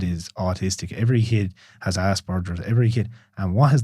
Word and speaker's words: Asperger's: How do you pronounce it? Asperger's.